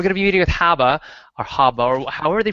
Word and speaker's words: Haba: It rhymes with Rabba if you're from Boston.